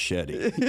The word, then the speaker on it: Shadi: However, your beautiful bride did, you know, she was like, you know, it's Shadi, you know, and if anybody's going to correct someone, it's going to be Sandra.